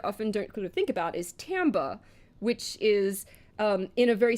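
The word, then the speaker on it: timbre: music context or Tambe it's a French word it looks like timber but it's pronounced Tambe I hate French anyway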